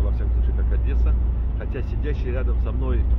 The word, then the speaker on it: Одесса: Но мы будем произносить его сегодня, я, во всяком случае, как Одесса. Хотя сидящий рядом со мной араб Бурин говорил, что коренные одесситы как раз произносят Одесса.